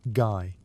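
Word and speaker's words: Gey: by a researcher named Dr. George Gay, pronounced guy.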